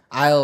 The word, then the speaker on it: aisle: AIL kan? Iya kan sih? AYL. Enggak ada S-nya kok bacanya Ail tuh gimana ya?